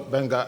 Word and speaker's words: Gbenga: If everyone can follow Benga Adwoyin, and it's spelled Gbenga, Benga Adwoyin, Adewoyin.